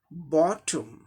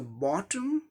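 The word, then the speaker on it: bottom: इसी को अमेरिकन में क्या होता है, सब सेम रहता है, लेकिन ओ की जगह आ साउंड आ जाएगा, इसमें बोलेंगे बॉटम British English pronunciation, American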